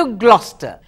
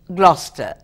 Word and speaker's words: Gloucester: Doctor pastor என்ற பெயருடன் ஒரு doctor went to Gloucester. அவர் Gloucester என்ற இடத்துக்கு போகிறார். Gloucester எப்படி ஸ்பெல் பண்ணியிருக்கிறது, எப்படி சொல்ல வேண்டும்?